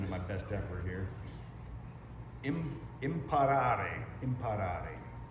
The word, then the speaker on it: imparare: Imparare, spelled I-M-P-A-R-A-R-E, to learn, which to me sounds very similar to the word impair.